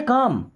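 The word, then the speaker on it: calm: I stay काम। यहां पे L silent होता है ना?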